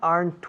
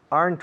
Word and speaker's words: aren't: Why aren't we? Aren't we ready yet? And yesterday morning, why weren't you in class? Why weren't you? Aren't you? Weren't you? Ambos una sola sílaba. Aren't, weren't.